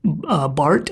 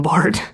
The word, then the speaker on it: Barthes: of the Author by Roland Barthes, I think is how you say his last name. It's French. It's spelled Barthes, and he's like this theorist, post-structuralist guy, I think.